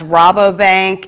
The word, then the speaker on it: Rabobank: Okay, I understand it's pronounced Rabobank, and checks can be made payable to the PNF Fire Victim Relief Fund.